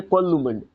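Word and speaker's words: कोलूमंड: पाबूजी का जन्म विक्रम संवत 1296 ईस्वी फलोदी जिले कोल्लूमंड, कोमुंड नहीं है कोल्लूमंड, कोल्लूमंड।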